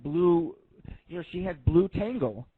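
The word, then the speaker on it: Blutengel: you know she had blue tangle or ten gel blue ten gel that's how you say it um she had that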